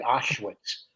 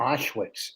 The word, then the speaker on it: Auschwitz: and there were wooden bunks that looked like auschwitz uh austrians like the overalls no auschwitz i said it right it's auschwitz isn't it isn't it how do you say